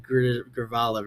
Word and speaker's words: Grijalva: the the the the Grijalva River. Grijalva Grija Grija va I don't know. I know that J is pronouncing a Y.